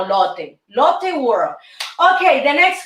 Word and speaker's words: Lotte: Lotte. Is Lotte or latte? Latte, no Lotte.